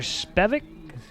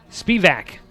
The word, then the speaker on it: Spivak: and taylor holder and connor spevic spivak got the pronunciation there and forgot it spivak